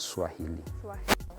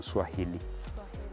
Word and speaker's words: Swahili: So for it, they used to pronounce it Swahel, not Swahili.